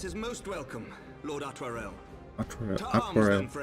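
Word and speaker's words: Artoirel: Lord Artorial? Your assistance is most welcome, Lord Atwarel. Atwarel. Okay, that's how it's pronounced.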